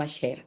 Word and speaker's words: Asher: Voy a decir hasta aquí, pero realmente deberíamos decir aser porque su nombre original o su nombre en hebreo es con Shin. Así así se escribe el nombre de Ash. Tenemos alef, Shin y Resh.